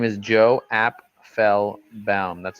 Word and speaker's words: Apfelbaum: actually listen to this my name is joe app fell bound that's how you pronounce my name okay so very interesting right